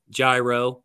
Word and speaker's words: gyro: So now my wife is kind of kindly harassing him because I get the Greek gyro, for those who don't know how to say it correctly.